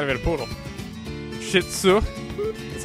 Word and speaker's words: Shih Tzu: Shih Tzu. That's how you pronounce it.